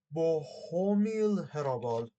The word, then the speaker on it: Bohumil Hrabal: That's the title in Latin by Bohumil Hrabal, if I choose to say his name correctly. Hold on a second. Let me check. Let me check. Let me check. Let me check. Yeah. Bohumil Hrabal.